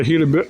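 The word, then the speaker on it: Gila: Now, the Hila is a major river. It's spelled with a G, but it's pronounced Hila.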